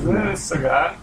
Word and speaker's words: Sagat: Sagat. Probably. I always say it because it rhymes with faggot.